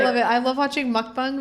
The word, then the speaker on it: mukbang: it I love watching mukbang videos yeah that's how it's pronounced my favorite the ones